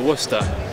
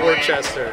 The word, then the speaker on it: Worcester: He goes, it's not Worcester. It's Worcester. Or however you pronounce it in the Boston accent.